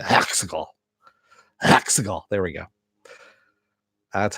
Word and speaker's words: Exegol: Exegol.